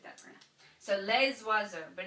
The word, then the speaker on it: oiseaux: So les oiseaux, but it's actually les oiseaux because this OI, even though it looks like a vowel, it is a vowel, it's pronounced W. OI is a W sound in French.